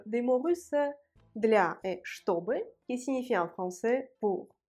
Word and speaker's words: чтобы: Écoutez bien et dites-moi où est l'accent tonique. Чтобы. L'accent tonique est sur le O. Un autre point important dans le mot чтобы, la première consonne ch se prononce ch, чтобы.